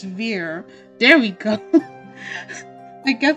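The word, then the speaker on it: Vere: that okay I have it rhymes with near or near so it's Veer it's Veer there we go I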